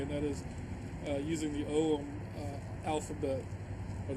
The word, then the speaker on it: Ogham: that is using the Ogham alphabet, or the Ogham alphabet. It's sometimes pronounced that way.